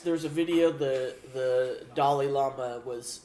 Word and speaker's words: Dalai Lama: don't like drama dolly dolly llama is all right it's like Dolly Parton it's Dalai Lama Dalai Lama yeah do